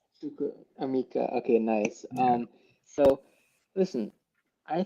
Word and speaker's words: Chukwuemeka: Well, how do you pronounce his name? It's Chukwuemeka. Chukwuemeka. Chukwuemeka.